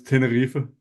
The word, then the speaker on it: Tenerife: But it's Tenerife.